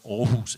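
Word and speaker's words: Aarhus: a convention called the or who's convention and I'm one of the few people who can pronounce it because all who's is a Danish town and I'm from Denmark but the all convention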